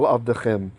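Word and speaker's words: עבדכם: And note the double schwa. First one ends a syllable, so it's silent. Second one begins a syllable. Avdechem. Vayamru, and they answered, well, literally, and they said, Ken ta'aseh kasher dibalta.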